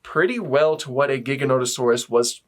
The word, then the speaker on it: Giganotosaurus: books there was always Giganotosaurus at one page or another and I used to just pronounce it gigantosaurus so there's that anyway